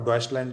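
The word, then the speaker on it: Deutschland: लेते थे, जिसका नाम है AfD, अल्टरनेटिव फॉर डॉइचलैंड, जो उसका जो रियल प्रोनाउंस ये है।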